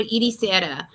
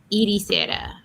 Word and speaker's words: Ericeira: It's called Ericeira. So it's not pronounced like it's spelled. So it's ERCRE. I have to type it out. ECERIA. ECER. And Syria? Ericeira. Ericeira. But ECERA. It's like Eric.